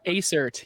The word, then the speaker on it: Aecert: And I'm sorry, I did pronounce that right. Right? Aecert, yeah.